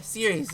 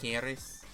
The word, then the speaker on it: Ceres: Technically, you'd pronounce it with a hard C. Something like Keris or something like that.